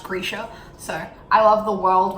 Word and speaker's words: Grisha: I say Grisha still, but like having heard it, it's apparently pronounced Grisha.